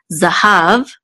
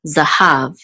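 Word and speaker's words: זָהָב: zine or the Comets which says za the hey look much with a Kamat so she says ha and it closes that with this vet so have Zahav is cold ok and this is the trip mark so we know that the exit is on the last level have Zahav this is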